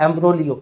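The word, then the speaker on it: imbroglio: पढ़ने में जी साइलेंट रहता है।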